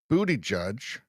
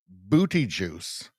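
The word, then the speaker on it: Buttigieg: Some people call Pete Booty Judge. Some people mispronounce his name and they call him Pete Booty Juice.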